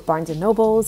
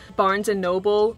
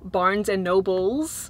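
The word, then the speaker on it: Barnes & Noble: in my last video people were really calling me out for pronouncing barnes and noble barnes and nobles like plural and i don't know why like i always just thought it was barnes nobles and i don't know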